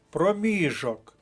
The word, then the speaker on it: проміжок: склад перша колонка далі рекомендую записати проміжок другий склад друга колонка проміжок часу стосується категорії часу